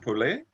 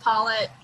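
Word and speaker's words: Pollet: that portuguese or french p-o-l-l-e-t oh you're muted it's french so is it pulley uh we pronounce it paulette okay okay all right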